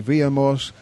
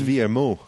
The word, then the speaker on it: Villermoz: It's Villermoz. Yeah, you're right, it's Villermoz. You learnt your lesson, that's good. Oh, no. But apparently locals leave off the Z, and other French people sometimes pronounce a Z. To be honest, I think it depends on the valley you come from, So, let's say exactly what you want.